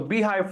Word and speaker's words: Beehiiv: communication skills as well and my understanding of beehive as a platform so I'm going to dive